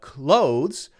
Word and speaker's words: clothes: of the letter O let's get the close and you can say this clothes if you want to but a lot of people just say it the same as c-l-o-s-e which is